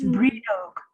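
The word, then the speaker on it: Brídeog: Does anyone know how to say Bridget doll in Irish? It's Bridog. Bridog.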